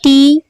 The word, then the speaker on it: the: Read the following text pronouncing the or the, THEE, the or THUH, the.